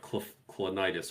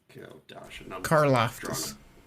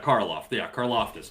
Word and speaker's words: Karlaftis: kid from the Chiefs, I can never say his name, but Clonitis or whatever is. Karlaftis. Yeah, Karlaftis, George, out of Purdue.